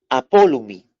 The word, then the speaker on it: apolumi: La palabra ahí griega para destruir es apolumi. El término griego apolumi. Se escribe así, anótelo en sus cuadernos.